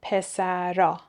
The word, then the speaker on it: پسرها: ها برای جمع داریم اگر صدای قبل از ها یه حرف بی صدا باشه ه رو تلفظ نمیکنیم خب پس ها میشه آ مثلاً پسرها ر حرف بی صداست بنابراین میگیم پسرا پسرها پسرا خانم ها